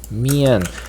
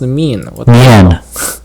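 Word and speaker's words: mien: of their character mood mian his mian his name is mean now it's pronounced mean it's mean damn it all right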